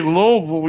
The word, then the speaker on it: Louisville: you you're not alexa when you say louisville you don't have the s in it it's not really you can't hear it right look like illinois